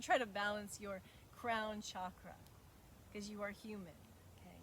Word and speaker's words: chakra: way that chakra which i love to say with a soft sh sound chakra you will hear me say that all the time because it rolls off my tongue so easy the proper way to say it is chakra and it is a